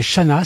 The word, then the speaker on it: Chanaz: à voir tout cela alors cet endroit c'est Chana c'est pas très loin d'exb c'est pas très